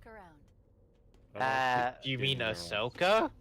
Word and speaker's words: Ahsoka: Ahsoka? Yeah, long O.